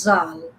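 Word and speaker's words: ز: teeth when like z za za a little bit whistle like za alif zabar za.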